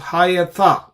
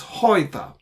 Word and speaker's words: Hayata: there are three syllables, Hayata. If you make this a closed syllable, it becomes Hoita. So it is not Hoita, it is Hayata. Actually, it's not Hoita. Hayata is correct.